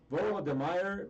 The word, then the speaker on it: Volodymyr: Volodymyr Zelensky.